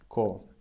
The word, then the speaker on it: кого: Кого, чего? Чего? Of whom and of what? You remember? Written кого, чего, pronounced кого, чего. So try to remember the pronunciation.